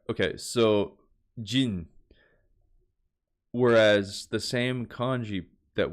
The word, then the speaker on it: 人: Okay, so Jin.